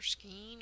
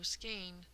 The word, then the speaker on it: skein: And if this little mnemonic of thinking, oh, skein is just like rain and vein, is of any help to you, then you might be able to communicate more clearly.